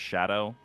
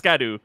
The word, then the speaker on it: Scadu: all like learned that it's supposed to be pronounced Shadow or like Shadow but literally nobody cares yeah everyone everyone's just like it's scadu or sco no one cares I I think